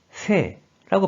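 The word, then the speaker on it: 政: 이 한자는 뜻으로는 발음이 없고 음으로만 세라고 발음해줘요.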